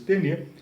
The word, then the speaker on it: Taine: E, finalizando, nós podemos aqui falar do Taine, escreve-se Taine, Taine, pronuncia-se Taine, o homem da teoria do determinismo.